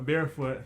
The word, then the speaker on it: BearFoot: you don't pronounce that so you don't pronounce the x because the x is just a variable of the unknown in the universe so